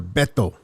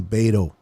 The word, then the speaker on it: Beto: boy Beto, Niner Beto, or Beto is the correct word, but a lot of Gavachos can't say my name, so they say Beto, which is okay as well, at the Niner Sickness podcast.